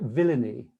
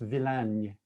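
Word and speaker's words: Villány: only time to highlight one it looks like villainy which is an amusing word in english but i've been practicing sue if you're listening tonight stu tolson it's pronounced villain okay villain and this is in the south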